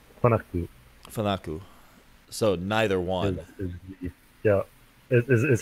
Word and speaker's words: FANUC: So if you're interested in the Japanese pronunciation, it's Fanuku.